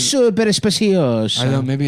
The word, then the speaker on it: Super Speciosa: They sent a link to how to pronounce super speciosa Super speciosa. because I guess I was saying it wrong. It's super speciosa.